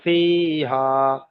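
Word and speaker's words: فِيهَا: ফি টান দিতে হবে, হোম ফি হা, কারণ ইয়া মাদ্দা আর আলিফ মাদ্দা এক আলিফ পরিমাণ করে টান হবে।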